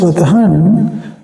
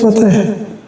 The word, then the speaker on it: Fathan: The written is Fathan. You have to pronounce with full spelling. You cannot read as Fatah.